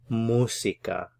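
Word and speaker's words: música: work on your pronunciation the stress here is on this first syllable because of the accent mark musika Musica Musica so this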